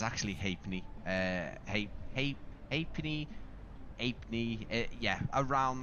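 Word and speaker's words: Halfpenny: Uh so if I do slip into saying half penny guys I am fully aware that that is not the pronunciation.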